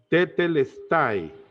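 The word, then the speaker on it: τετέλεσται: tiene una palabra griega que se es se pronuncia tetl style lo que significa que está terminado nuestros pecados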